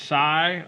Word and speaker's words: psi: the Greek alphabet is pronounced sigh although it's spelled psi if I remember my